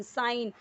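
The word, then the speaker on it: sign: क्या बोल रसे सैफरन साइन जी है यहां पे जी साइलेंट है मत सोचिए सिगन होगा या साइ गन होगा नहीं ठीक है तो वो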